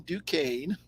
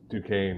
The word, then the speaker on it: Duquesne: know how to pronounce duquesne until you guys said it there's an s in there i guess it's silent i got nothing pittsburgh